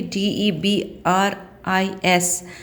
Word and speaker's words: debris: due to the debris debris de B R is that S is silent children so its debris due to the debris